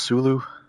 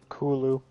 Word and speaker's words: Cthulhu: Did you say it's actually pronounced Sulu? Kulu.